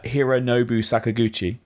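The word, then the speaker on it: Hironobu Sakaguchi: butcher the pronunciation of this I know it Hiro Nobu Sakaguchi yeah you pronounced avaya yeah yes okay no fantasy fan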